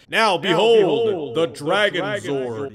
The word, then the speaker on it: Dragonzord: right now behold the Dragon Sword you gotta say it like Zordon right but he's pretty darn